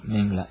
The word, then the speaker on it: Mangala: much to popularize the Mangala Sutta among the populace in his country, to the extent that the word Mangala, pronounced as Mingla in Burmese, came to be his honorary prefix.